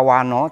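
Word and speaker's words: vaṇṇo: Lalu kata wano tuh n-nya ada titik di bawah, jadi lidahnya mesti dilipat ke atas.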